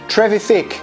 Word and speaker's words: Trevithick: Trevithick, si on le prononce bien comme il faut.